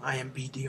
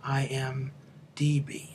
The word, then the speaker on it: IMDb: IMBD all the time. IMDb.